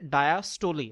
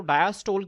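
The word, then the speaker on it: diastole: एक को हम कहते हैं कार्डियक डायस्टोली। बच्चों ज़हन में रखें जो ज्यादातर ये लफज़ प्रोनाउंस होता है वो डायस्टोल की फॉर्म में होता है।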